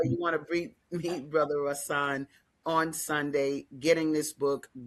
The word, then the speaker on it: Rahsaan: am I, yeah, let me say it right. Rahsaan, did I say that right? Yeah. Rahsaan.